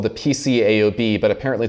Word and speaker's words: PCAOB: It's called the PCAOB, but apparently it's pronounced the peekaboo.